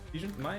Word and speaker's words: Mai: Is it Mai? How you pronounce his first name? Yeah. Mai.